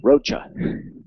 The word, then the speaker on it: Rocha: one that told us how to correctly pronounce rocha we always early on we were saying roca and she said it's like the bug rocha greg houser avery goes